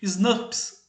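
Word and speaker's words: snRNP: rival núcleo proteínas nucleares elas são normalmente chamadas de snaps Ok então a pronúncia seria Snap esses números representam essas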